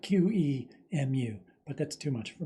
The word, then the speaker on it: QEMU: We're going to be using an emulator called Qemu, at least. That's how I pronounce it. Apparently the official pronunciation is something like Qemu, but that's too much for me.